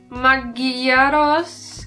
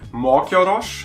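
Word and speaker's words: mogyorós: Magyaros kolbas. But no, you said the Z, right? Yes. Kolbas. Mm-hmm. Izu. No, the set is still a S. Izu. Yeah. The first word is more like Mogyoros.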